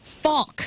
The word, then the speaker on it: Falk: Falk. It's one syllable.